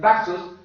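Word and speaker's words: ταχύς: traduce como pronto, tachos, que se puede pronunciar tachos porque se translitera así, una cosa es traducir y otra cosa es transliterar. Algo se translitera cuando proviene de un idioma y solamente se busca la letra equivalente en el idioma, hermanos, y entonces es tachos, o se puede pronunciar también taxos, si se lee literalmente del idioma original.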